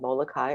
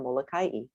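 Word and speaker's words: Molokaʻi: Molokai can be called Molokai or Molokai.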